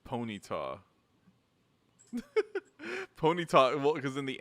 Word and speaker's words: Ponyta: Cause he like I mean, is it Ponyta or Ponita? it's Ponyta.